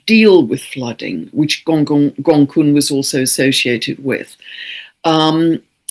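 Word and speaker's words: Gonggong: Um, we also have the dwarf planet Gong which I squeezed in which is spelled all one word gong um spel pronounced gongun six degrees of Pisces very tightly conjunct the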